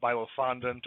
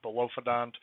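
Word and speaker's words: bilophodont: There's actually a few different ways you can hear this word pronounced. You have Bilophondant or Bilophondant. Either way is fine.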